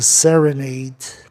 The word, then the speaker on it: serenade: Sereno, serene, serenata, serenade, e serenidade, serenity. Serene, tá certo, vogal consoante E. Serenade, serenade, vogal consoante E, o A com som de E.